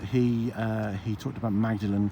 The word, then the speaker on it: Magdalen: uh he talked about magdalen college which of course is pronounced more than college how do you know